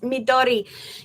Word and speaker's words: Midori: am going to sneeze in a second it's pronounced Midori yes I know it's Japanese for green Connor